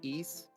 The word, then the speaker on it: Ys: And if you like more action RPGs, the same company makes um the East series YS as it's spelled, which is a much more fast-paced RPG series.